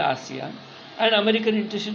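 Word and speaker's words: ASEAN: और आसियान यानी actually एशियन नहीं कहना चाहिए, बहुत सारे इसको स्पेलिंग बोलते हैं एशियन, वहाँ आय नहीं है, इसको हम लोग आसियान बोलते हैं, बराबर।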